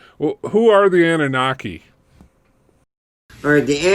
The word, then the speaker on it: Anunnaki: are the Annunaki or the how do you pronounce it dr. you can say in a knocking okay I want to make sure I'm saying it right well who are the Anunnaki alright the Anunnaki another term for is Nigerians the planet Nibiru